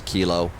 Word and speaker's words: kilo: here and see information Keela is still up uh still current at Chicago O'Hare so that's good to go to you may hear me mispronouncing information K I know it's kilo uh the one of